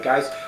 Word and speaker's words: Geis: That's Larry Geis. I hope I'm pronouncing his name properly. He's a good friend of mine. For some reason, I kept pronouncing it Geese, so hopefully Geis is the proper pronunciation.